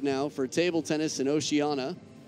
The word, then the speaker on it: Oceania: for table tennis and oceanana I used to say Oceania because that's how it's spelled but it's said by the locals Oceana so just trying to